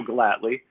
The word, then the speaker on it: Gellatly: about mentoring yeah well first off excellent job pronouncing the last name and as you said Joe gladly I've worked in health care and health IT